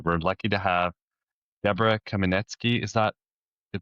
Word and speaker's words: Kamenetsky: We're lucky to have Deborah Kaminetzky. Is that the pronunciation of your last name, You Deborah?